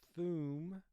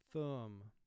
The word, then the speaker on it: thumb: If OO were underlined one time, we would pronounce this word thoom, but because it's representing its second sound, the OO team, it's thumb. Ond, ond.